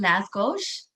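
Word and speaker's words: lángos: it's l-a-s-g-o-s i believe oh yeah so they pronounce it las gauche okay interesting yes very delicious but it looks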